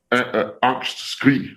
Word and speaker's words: Angstkrig: Angstkrig, so Angstkrig with a G at the end.